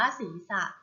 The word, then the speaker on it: ศีรษะ: ไป ค่ะ คำ ว่า ศีรษะ และ มี สระ อะ อ่าน ว่า ศีรษะ ศีรษะ ประกอบ ด้วย 2 ศาลา